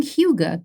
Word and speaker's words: hygge: Is it pronounced hygge? Very close. Hygge. Hygge. And actually, if you ask the average American, they put a y into it.